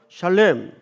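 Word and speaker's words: שָׁלֵם: 여러분, 여기 온전이라는 말이 히브리 말로 무슨 뜻인가, 무슨 발음인가 하면 샬렘입니다. 이게 온전하다는 뜻이에요. 한번 따라서 해볼까요? 샬렘.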